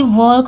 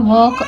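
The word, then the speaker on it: walk: pronunciation होता है इसका अगर आप वाल्क बोलते हैं तो यह गलत है यह बताने की चीज है आपके बच्चों को समझाने की कि वाल्क नहीं बोला जाता इसको वॉक पढ़ा जाता है अगर वाल्क पढ़ते हैं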